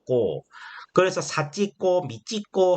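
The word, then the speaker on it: 子: 이걸 자라고 읽는데 일본에서는 이 자를 발음이 뭐냐면 꼬가 돼요. 꼬.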